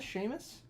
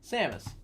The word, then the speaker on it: Samus: let's start let's start with this samus samus sheamus i think it's samus how to pronounce metroid see sammas samus samas samus oh boy we're just gonna do this how to pronounce samus samus okay there we go oh boy every week